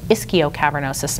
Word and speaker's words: ischiocavernosus: The ischiocavernosus muscle, sometimes pronounced ischiocavernosus muscle.